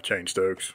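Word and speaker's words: Cheyne-Stokes: respiratory pattern called uh chain Stokes which is chain Stokes yeah it's spelled c-h-e-y-n-e Dash how you would imagine stokespell and uh s-t-o-k-e-it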